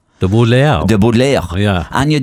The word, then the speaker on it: Butler: And if you pronounce the name properly, and you're from Waterford, you go De Butler. De Butler.